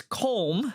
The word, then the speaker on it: Colm: But this guy, his name is Colm. I believe that's how you pronounce it.